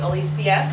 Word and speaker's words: Alisia: I just want to make a correction my name is Alisia oh I'm so sorry